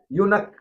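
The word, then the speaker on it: eunuch: आगे है यूनक इसको यूनक पढ़ेंगे ई यू एन यू सी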